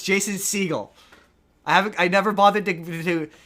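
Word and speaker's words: Segel: It's Jason Seagull as in the animal seagull. Um Jason Seagull. Not Seagal like Steven Seagal. It's You've got me doing it now. It's Jason Seagull.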